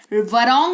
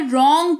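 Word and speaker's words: wrong: जाएगा बढ़ते हैं आगे डब्लू कब साइलेंट होता है वो समझ लीजिए अगर किसी शब्द का पहला अक्षर डब्लू है क्या है वो शब्द शुरू ही डब्लू से हो रहा है और उसके ठीक बाद आर आ रहा है तो डब्लू का उच्चारण नहीं किया जाएगा जैसे कि डब्लू आर आई एस टी वरिष्ट नहीं रिष्ट पढ़ेंगे रिस्ट है ना कलाई जिसको कहते हैं वरंग नहीं रॉन्ग पढ़ेंगे जिसका मतलब होता है गलत राइट नहीं राइट पढ़ेंगे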